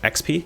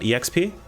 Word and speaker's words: XP: previous videos that mentioned it's pronounced XP not exp um so I'm going to do my best for the rest of this video if I ever talk about experience I'm gonna say XP and not exp even though I've